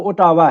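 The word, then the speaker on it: Ottawa: है वो ओटावा है या ओटोवा जो भी आप इसको डिफरेंट प्रोनाउंस कर सकते हैं।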